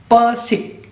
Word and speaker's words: Pesik: Lalu geser ke Jawa Barat, sebenarnya ada juga Pesik. Ini bukan cedal ya, bukan nggak bisa R, tapi namanya Pesik. Kalau yang tadi Persik Kendal, Persik Kota Kediri, Persik G pakai Gunung Kidul, ini Pesik.